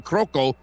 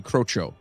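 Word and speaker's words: Crocco: and folk hero carmine croco i believe it might be crocho so cc in that uh the the sh sound no okay yeah whatever so we're gonna say crotcho come on crotcho he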